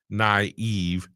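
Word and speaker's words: naïve: In European languages, the two dots indicate two adjacent vowels, but they are separate syllables. It's most common, okay, in the word naive where you get a and I right there. Naive. So the I should be separated from the A which is the You get it?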